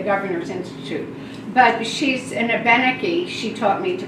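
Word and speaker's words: Abenaki: knew from the governor's Institute but she's an ebenecke she taught me to pronounce it that way uh ethnobotanist artisan and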